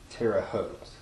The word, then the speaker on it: Terre Haute: It's pronounced Terre Haute. Terre Haute.